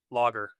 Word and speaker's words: larger: So break it in half. So. So think German, sauerkraut. And then for the end, lager, like beer. So lager.